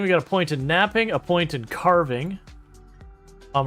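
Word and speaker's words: knapping: in the future yeah napping with a K so like chipping Stones against here to get sharp pieces of Flint so so like kapping um but the K is silent but with all that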